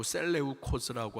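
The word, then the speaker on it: Σέλευκος: 셀류코즈 셀레코 셀러우코스 셀러야 발음이 좀 그래요. 자, 어떤 사람은 셀레코스라고 하고 셀레우코스라고 하고 자, 여기 쓰여 있는데요. 셀레우코스라고 셀레우코스라고 하는 왕조가 또 이제 수리아, 뭐 이라크, 파리시아 이쪽 이제 중동 지역을 정 다스립니다.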